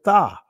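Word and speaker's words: תָּו: And then you'll see the Tha. Many will pronounce it Tov in the Israeli. Again, I'm doing ancient Hebrew, the Tha.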